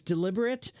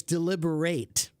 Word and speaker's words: deliberate: sure uh well Alex there's two ways to pronounce that word there's deliberate and there's deliberate yeah it's a weird word so um let me